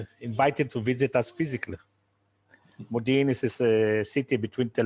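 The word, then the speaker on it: Modiin: And his club, which I believe we pronounce it Modin? Modin, yes.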